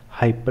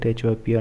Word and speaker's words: HYPR: are going to analyze hyper network uh hyp Network and uh I hope I'm pronouncing it correctly uh I think it sounds like hyper network but some people might call it HPR Network so let's see what